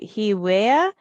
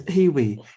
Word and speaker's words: Hewie: Hewea, HEAWEA. How do you say that? It's Hewie, healing wearable. So it's short for healing wearable.